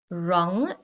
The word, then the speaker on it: wrong: Wrong.